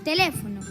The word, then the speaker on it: teléfono: Vamos a empezar con la palabra teléfono. A ver cuántas sílabas tiene. Te-le-fo-no. Perfecto, tiene 4 sílabas. Y ahora vamos a descubrir cuál es la sílaba tónica. Teléfono, teléfono. Muy bien, le es la sílaba tónica y el resto son las sílabas átonas.